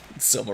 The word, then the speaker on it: Soma: Soma rhymes with coma.